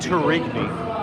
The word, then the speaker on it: Tourigny: JJ Turiki is how you pronounce his last name.